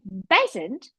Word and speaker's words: Besant: do she did was to modify the pronunciation that is Frank was actually called Frank bizant and she decided that since they were separated she would be called an basant to r with Pleasant she said which was a subversive